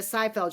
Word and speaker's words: Seyfried: to Okay, pronounce it, but it's Seyfried.